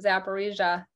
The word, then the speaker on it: Zaporizhzhia: um by the way you nailed your first pronunciation of zaparija very correctly well done thank you um justin